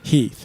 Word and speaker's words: Heth: And it was probably pronounced Heath.